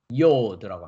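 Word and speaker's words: יוד: tet, tet, 티귿 발음입니다. 다음 글자는 손이라는 의미를 가지고 있는 yod라고 합니다.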